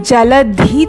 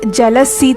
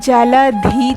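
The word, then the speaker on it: जलधि: most of you are making the mistake of pronouncing Jaladhi Taranga as Jalasi Taranga, which is completely wrong. You have to pronounce it correctly. It's Uchchala Jaladhi Taranga.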